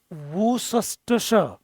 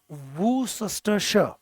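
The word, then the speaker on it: Worcestershire: ऑफ, इसका pronunciation ध्यान से देखना, वूसस्टश, वूसस्टश। वैसे SHIR शायर होता है, बट ये पूरे का जो प्रोनाउंसिएशन है अगर आप विकिपीडिया में देखेंगे, दिस इज वूसस्टरशर।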